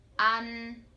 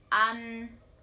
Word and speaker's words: ăn: Tăm and Chăm Next, we have Ăn Ăn This one sounds like the word 'Bun' in English For example, Ăn and